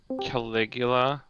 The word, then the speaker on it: Caligula: Apparently why we call the emperor Calula. I don't know if I'm pronouncing it right.